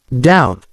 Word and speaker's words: doubt: K is silent and in the word doubt the B is silent let's practice some words with silent letters knife silent k doubt silent B wrist silent